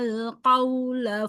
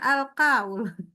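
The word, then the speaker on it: القول: Alladzina yastami'una al-qawla fayattabi'una ahsanah. Oke, sebentar. Coba baca ini. Ini apa tadi? Al-qawla. Alqa, jangan alqaul. Qa, ayo.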